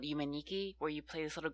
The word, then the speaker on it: Yume Nikki: Oh, Yume Nikki. Yeah, okay. That's what do you think I was saying? You were pronouncing it Yuma. Whatever. And it was one word.